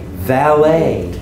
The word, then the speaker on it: valet: said that exactly right valet valet no tea the tea is silent it's a French word French words drop their tea at the end valet so when you